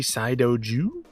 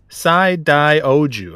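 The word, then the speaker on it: Saidaioujou: we got dodon patchy saido jew you said that right for sure uh it's it's sai dai oju i i left out one uh one of the syllables there just about to call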